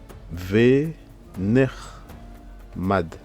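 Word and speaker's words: ונחמד: Là nous avons le fameux Sheva ici. Vu que là la voyelle c'est une voyelle qui, enfin c'est une syllabe qui se ferme, donc le Sheva ne se lit pas, d'accord. Donc ça fait vener mad, ok. Donc c'est ce qui se lit.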